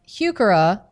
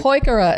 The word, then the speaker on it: Heuchera: like to we has a wonderful line of heuchera and when I told him that he had